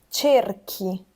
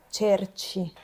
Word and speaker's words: cerchi: Quindi, vedete, la presenza della H qui fa sì che noi pronunciamo cerchi. Se noi non mettessimo la H, dovremmo pronunciare cerci.